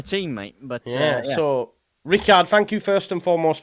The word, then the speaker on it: Rickard: It's Rickard in Swedish, but Richard, it's the same thing.